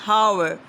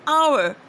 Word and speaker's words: hour: It is not an hour, it is an hour. So H becomes silent, though H is a consonant word, but when it becomes silent, we just speak it like an hour.